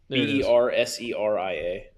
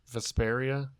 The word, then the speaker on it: Berseria: How do you spell it? You have tales of it. B E R S E R I A. What's that first one? Vasperia.